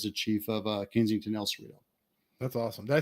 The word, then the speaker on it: El Cerrito: year anniversary as the chief of uh Kensington El Cerrito that's awesome did I say it right when I entered it's Rio is that what it is you did yeah yeah El Cerrito yes congratulations on the chief by the way